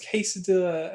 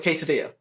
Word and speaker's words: quesadilla: also because in Spanish, the two L's put together is pronounced as E.